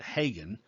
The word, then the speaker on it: Haggen: And that's a character named Festus Hagen, Haggen, although he pronounces it Hagen.